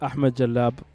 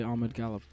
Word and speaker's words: Ahmed Galab: It's pronounced Ahmed Jalab, but people don't know how to pronounce that really, so I just say Ahmed Galab.